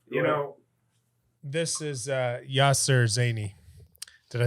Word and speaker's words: Zayni: In Arabic is Yasser Zayni. Zane. Zayni, yeah. Zayni.